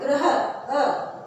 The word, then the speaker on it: ग्रह: र की मात्रा जो तिरछी रेखा के रूप में है, इसको हम कैसे बोल रहे हैं? ग्रह, ग्रह।